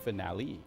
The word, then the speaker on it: finale: commented the other day it should be pronounced finale finale instead f Le wait that's